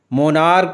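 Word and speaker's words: monarch: आइए देख लेते हैं जब सी एच का उच्चारण का से होता है तब हम ईस के बजाय सिर्फ एस लगाकर प्लूरल बनाते हैं जैसे स्टमक से स्टमकस मोनार्क से मोनार्कस इसी तरह पीछे ओ के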